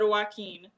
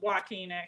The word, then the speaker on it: Joaquin: name like oh wow I said Joaquin it's walking I think he's tremendous